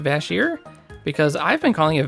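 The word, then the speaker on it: Vash'jir: know it's actually pronounced bass here because I've been calling a vast year for ever and I guess the apostrophe is after the J and the J is actually silent and I don't know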